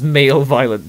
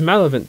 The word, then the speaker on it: malevolent: over the fact that i mispronounced um malevolent text as male violent text it's malevolent text i'm pretty sure barrier doesn't oh i must be mistreating the valent as violent so yeah i'm sorry